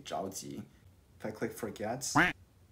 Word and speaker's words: 着急: Uh-oh, that pronunciation is not correct. I think you guys can all hear that. It's supposed to be 着急.